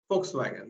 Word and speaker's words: Volkswagen: here in Pune Volkswagen Volkswagen the spelling starts with v but it is pronounced as f now you see in